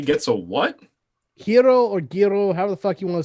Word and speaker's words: gyro: Hero or gyro, however the fuck you want to say it. Yairo. That G is pronounced like a Y.